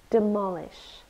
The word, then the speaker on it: demolish: syllables demolish and we stress the second one demolish it's a verb it means